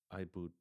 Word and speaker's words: iBood: Um before we get deeper into that, what does IBO really do? And did I pronounce it correctly? IBO. Yeah. Yeah. IBO.